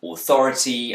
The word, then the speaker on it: authority: The words water, authority, and fighting have a T in the middle. Brits will tend to pronounce a T sound here, t, but Americans will use a tap. This may sound like a short D sound, or even an R sound if you're a non-native speaker of English.